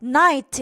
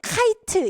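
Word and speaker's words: knight: 아니에요 나이트가 밥 말고 그때는 k가 없어야 돼 근데 나이트 여기 k가 있는데 카이트 이렇게 바르면 안 돼요 나이트 요렇게 발음이 되는데이 다크나이트할 때 나이트가 뭐다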